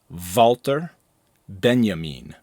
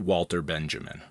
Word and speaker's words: Walter Benjamin: and just a pronunciation note his name is pronounced valter Benjamin not Walter Benjamin Benjamin's most famous concept is that of the